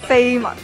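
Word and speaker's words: 绯闻: 是绯闻啊，应该读绯闻。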